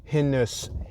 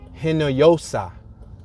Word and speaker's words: Hinojosa: So Moyamensing was chartered by the Dutch governor, Alexander de Hinus. I'm sorry, let me pronounce this correctly. Alexander de Hinojosa.